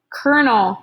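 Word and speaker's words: colonel: is capital c-a-p-t period kernel is how that's pronounced even though it's not how it's spelled capital c-o-l period next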